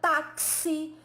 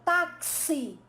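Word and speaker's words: táxi: palavra fixo na palavra taxi Então você percebe que ao pronunciar a palavra taxi né esse x escrito na pronúncia né ele tem aquele som que é representado quase como que fosse um KS Então esse tipo de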